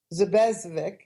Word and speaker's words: Zubcevik: Nev, and I'm going to spell her last name because it's very hard for people to pronounce it. It's Zubcevik. Zubezvik is her last name.